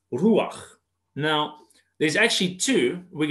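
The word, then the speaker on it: רוח: is in the concordance, and it's pronounced ruach.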